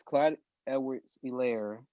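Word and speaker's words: Clyde Edwards-Helaire: four quarters especially because clyde edwards hillary yeah that's how you pronounce the name the first game rushed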